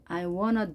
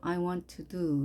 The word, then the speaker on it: want to: 이럴 경우에 이렇게 발음합니다. I wanna do 이렇게 발음이 됩니다.